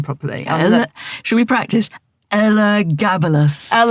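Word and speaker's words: Elagabalus: but first I have to learn how to pronounce that man's name properly. Should we practice? Ella Gabalas. Ella Gabalas.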